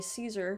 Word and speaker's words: Caesar: i do know about kaiser which is how you're supposed to actually pronounce it i think based on all of the scholars but in modern english we say caesar and i know about